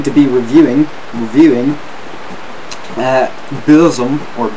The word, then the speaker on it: Burzum: it now i'll go i'll call it beausom because that's how the man himself at varg pronounces that uh